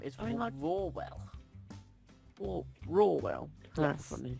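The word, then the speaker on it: Rawell: That lion, though, his name is I mean, like- Rawwell. Rawwell. That's Yes, funny. it's spelt R-A-W-E-L-L. Rawwell.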